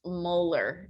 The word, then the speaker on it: molar: 0.300 m solution m this capital m is pronounced molar just like your teeth molar so that capital m